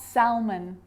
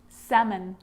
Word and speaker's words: salmon: walk yolk half calf salmon not salmon salmon so we got through